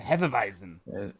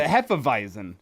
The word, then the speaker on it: Hefeweizen: The Hefeweizen. As a proud Schmidt, I should be able to pronounce that. Thank you, Elijah, for covering me there. It's simple. If it's German, the W makes a V sound.